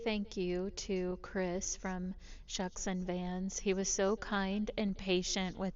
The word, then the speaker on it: Shuksan: Also, we realized that we've been saying Shuxson when of course this is pronounced Shuxson Vans.